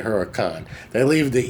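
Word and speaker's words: Huracán: a CA N and it's pronounced Huracan shouldn't be like hurrican CA NS can but they say Huracan they leave the e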